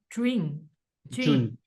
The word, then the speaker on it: Jun: I'd say the thing that John, is your name pronounced Jun? June. June. Yes.